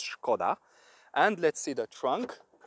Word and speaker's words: Škoda: why it's pronounced skoda because of this s with this hat before the s which is pronounced in czech as shu so it says shkoda and let's see the